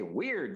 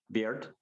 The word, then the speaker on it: weird: And there's another side to it, and that the word weird, because we say weird, that's wrong. That's not how you pronounce it. It's weird.